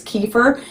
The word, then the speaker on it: kefir: and yes i know here in america the common way to pronounce it is kefir and that is the way i said it for years until people started coming in and being really rude to me telling me i was saying it wrong and now i got people telling me i'm still saying it wrong even though i'm pronouncing it the more appropriate russian way because well that's where it comes from however you want